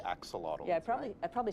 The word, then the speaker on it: axolotl: We're all going to learn how to say axolotl.